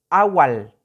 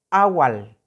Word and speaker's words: awal: Entonces, por ejemplo, la palabra awal, awal. Si se dan cuenta, la letra A se pronuncia muy simple una vez.